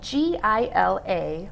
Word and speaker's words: Gila: It's spelled G-I-L-A, but it sounds like an H, Gila.